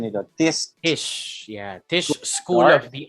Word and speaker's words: Tisch: He moved to New York after being offered a scholarship at New York University's pronunciation nito? Tisch.